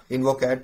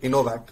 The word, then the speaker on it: Innovac: Get all the best on InvoCat, and I'm pretty sure because Innovac. Okay, so I've never asked you to pronounce it before. Innovac. Got it.